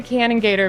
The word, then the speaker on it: Kanengieter: Uh, it's I get it's Canon Gator, but spelled like more phonetically.